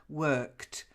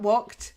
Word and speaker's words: worked: The first one's just the d at the end. Worked. So it's a kt ending. Worked. Okay. Okay. Okay. Worked. Not walked. Worked.